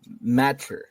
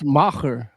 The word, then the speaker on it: Macher: It's called The Masked Matcher. Yeah. The Masked Matcher. Asterix, It's Yiddish for big shot. Yeah. Matcher is Yiddish for big shot. Yeah. Well, it's Macher.